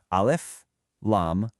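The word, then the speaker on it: الم: Not a word, but 3 separate letters, Alif-Lam-Meem. They're pronounced one by one, and right away that tells you you're dealing with a totally unique form of communication.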